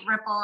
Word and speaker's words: Riepl: instagram ripple it's r-i-e-p-l but we pronounce it like a ripple in the water i am the founder